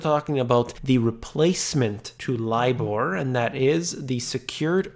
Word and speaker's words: LIBOR: Although it is spelled L-I-B-O-R, I always like to spell it the proper way, and that is LIBOR.